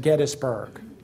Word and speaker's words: Gettysburg: actually is James gtis and it should be pronounced Gettysburg here's a um original draft of 116 acres